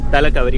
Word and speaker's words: Talakaveri: जैसे मुझसे तालाकावेरी का प्रोनाउंसिएशन नहीं हो रहा, तो इसका क्या प्रोनाउंसिएशन है? तालाकावेरी।